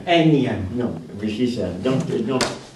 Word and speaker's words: énième: Un énième. Non, oui, c'est ça. Donc, parce que comme le N ne se prononce pas, on met avant le N un E.